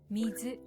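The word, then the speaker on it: 水: Kunyomi, or Japanese reading, is the way to pronounce kanji when they stand on their own. Mizu.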